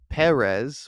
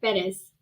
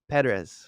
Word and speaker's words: Perez: um I think it's Perez or something a little I think I'm pronouncing it a little off but you know yeah yeah it sounds like Paris but it's a fettis pedes yeah pedz I know